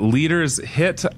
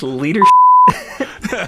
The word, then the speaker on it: Leadershit: Leader's Hit? Something like that? Yeah, it's leadership. There it is. There it is. Like leadership, but with a T at the end.